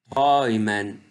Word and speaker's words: träumen: Europa Europa Feurer Feurer Neun Neun Umlaut ou se prononce aussi OI. Umlaut ou تتنطق زادة OI. شايمن شايمن موس يعني رغوة träumen träumen rêver يحلم outräumen